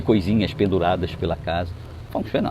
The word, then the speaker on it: Feng Shui: A pronúncia certa é Feng Shui, não é Feng Shui, nem Feng Shui, Feng Shui.